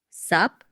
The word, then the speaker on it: sup: Because sometimes it sounds like what's up and sometimes it sounds like sup. Great question. Let's demonstrate. Sup is the ultimate lazy greeting. It's very common among friends. You just drop the what's.